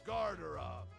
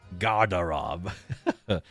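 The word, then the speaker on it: гардероб: It is pronounced as Garderob. Garderob.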